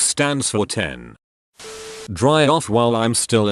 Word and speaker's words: iPhone X: what any calendar says pronounce iPhone 10 as iPhone x if you wanted me to pronounce it as 10 you should have used 10 not X I have never heard